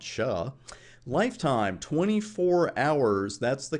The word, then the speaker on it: SHA: we're going to use something called sha which i like to pronounce sha lifetime 24 hours that's the config we're going to put on router 1.